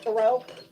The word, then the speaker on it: tarot: And yes, it is pronounced tarot.